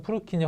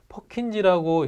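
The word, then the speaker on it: Purkinje: 프루키니 혹은 이거를 퍼킨지라고 읽습니다.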